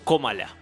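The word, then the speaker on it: Kamala: su nombre y nos explicaron que todos lo pronunciamos mal Qué nombre Eh el de camala y cómo se pron Comala com Comala evidentemente este no no no puede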